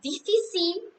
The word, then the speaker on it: difficile: And then we have difficile. Difficile, we don't pronounce E at the last.